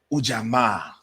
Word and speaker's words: Ujamaa: Before we get everything going, though, it's Kwanzaa, and today, Ujamaa. That's how you say it over there, too, Swahili.